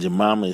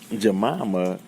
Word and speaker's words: Jemima: or the symbolic meaning of a jamama and jamama is spelled j e m i m a now